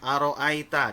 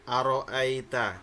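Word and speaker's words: أرأيت: di depan di ayat satunya ya di bacaan Aro Aita di situ ada Mad layyin di situ dijelaskan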